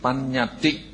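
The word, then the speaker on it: paññatti: So in Pali, so if you want to note, so we would pronounce it panyati.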